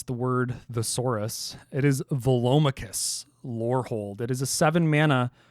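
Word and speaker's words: Velomachus Lorehold: like a 5-year-old after they learned how to pronounce the word Thesaurus it is Volus lold it is a seven Mana boros Elder Dragon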